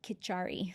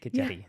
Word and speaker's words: khichdi: We like the Khichdi diet in Ayurveda. You can pronounce it Khichari. Some people say it that way. I like it with the D, Khichdi.